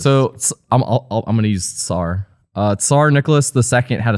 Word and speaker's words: Tsar: Now, do you pronounce Tsar with a C or with a T?